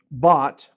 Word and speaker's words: Bott: so these guys so bought Bo TT but it sounds like I mean I'm using Google Translate to pronounce his name sounds like bought like you bought something but looks like baht and it's from his